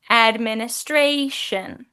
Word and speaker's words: administration: But second off, the Adams Administration. So we emphasize certain syllables, and that's not just in the chunks of words, it's in the individual words.